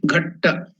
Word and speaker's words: Ghat: It comes from the Sanskrit word Ghatta. So Ghatta, and that is now pronounced as Ghat.